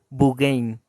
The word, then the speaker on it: Beauraing: llama ve a Orange así se escribe y que en belga se lee como bugain entonces la Virgen santísima